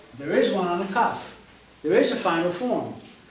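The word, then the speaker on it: כ: letter is still tough it's a cuff without a doubt pronounced cuff second variation that the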